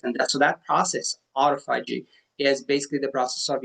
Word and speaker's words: autophagy: Another huge benefit is I think it's pronounced autophagy, and it's where the body starts breaking down